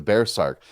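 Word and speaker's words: berserkr: that bear sark role the bear sark and bear said the way you pronounce it did i just kill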